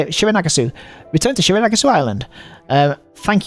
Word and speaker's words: Shironagasu: Shironagasu.